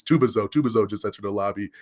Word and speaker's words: Tubazo: And that's when I was like, actually, it's Tubazo.